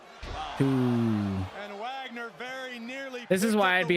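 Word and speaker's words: Dr. Wagner Jr.: Wagner is right behind him. Junior. Oh, I forgive saying it wrong. Wagner.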